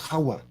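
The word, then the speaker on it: חַוָּה: quick and strong's h-2332 it's pronounced hawa transliterated by stones as kava see strong's are throwing the v ins the v's in it this is why we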